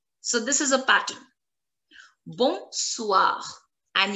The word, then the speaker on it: bonsoir: Bonsoir. And you have to pronounce the last letter R because bonsoir is ending with CLFR, which needs to be pronounced. Bonsoir.